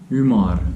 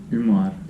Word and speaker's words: Ümar: Next is U. So this is U with dots. Ümar. Umar.